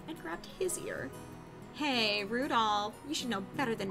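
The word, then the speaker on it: 留弗夫: Anyway, this guy's name is pronounced Rudolph.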